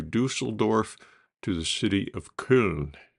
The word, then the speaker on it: Köln: to the city of Köln, which is also Cologne, but the German pronunciation is Köln.